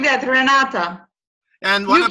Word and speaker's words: Renata: Yeah, just like that, Renata. And what you pronounce it perfectly.